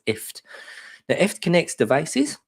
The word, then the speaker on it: IFTTT: know her answers properly it's called ift so press as in gift as a gift you give someone but without the the go so it's ift now if it connects